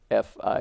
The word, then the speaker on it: Phi: the Golden Triangle they call it Phi 2 fi e pronounced but a spell ph i didn't go